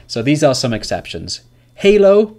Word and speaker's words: Halo: Halo is one example. If you played the video game, Halo, L is pronounced.